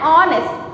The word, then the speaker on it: honest: H is silent here and it is not said out. So we say it as an, R, and honest.